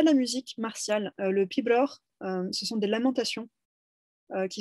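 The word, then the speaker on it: piobaireachd: Donc, ça se prononce pibroch, mais ça s'écrit différemment parce que c'est du gaélique et c'est normal.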